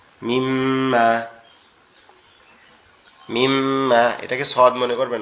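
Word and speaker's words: م: মিমটা উচ্চারণ হবে আমাদের দুই ঠোঁট থেকে, আমাদের দুই ঠোঁট একসাথে লেগে নরম আওয়াজে মিম্মা, মিম্মা, এরকম ভাবে কি হবে? উচ্চারিত হবে।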